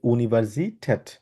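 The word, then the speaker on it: Universität: pronunciation বাকিগুলা ভালো ছিল বাট ইউনিভার্সিট বলব ইউনিভার্সি আবার বলেন ইউনিভার্সিট্যা এটা যেহেতু এর উপরে উমলা আছে আমরা ট্যাট উচ্চারণ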